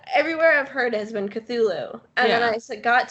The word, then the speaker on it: Cthulhu: And I'm like, dude, just admit that it's phonetically would be pronounced Cthulhu, and the way that you're trying to make it sound just doesn't exist and it doesn't matter. Like, even if you were take out the T, it Hmm. sounds much more like how he wanted it to sound than what it looks like.